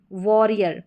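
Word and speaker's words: warrior: चलिए अब next spelling यहाँ पर है, ये है वॉरियर। ठीक है, डब्ल्यू ए को वॉ करके पढ़ते हैं अधिकतर स्पेलिंग्स में, वॉरियर हो गया मोस्टली।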